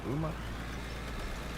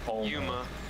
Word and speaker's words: Yuma: How do you pronounce that? Uma? Yuma.